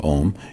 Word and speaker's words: Om: To chant Om, you sing a long, deep, resonant note with the syllable Aum, holding it as long as you can, repeating it over and over.